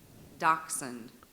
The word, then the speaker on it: dachshund: Dachshund.